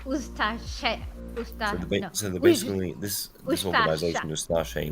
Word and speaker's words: Ustaše: A committed Ustashi, I believe it's pronounced, Ustashi member. I know, it's pronounced Ustaše.